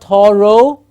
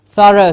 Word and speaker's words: thorough: do a thorough ha please remember it's not Toro it's a rough it's a schwa sound yes it's not Toro you need to do thorough study its thorough study sir rah Tara Tara it's like a third and a road together thorough yes yes what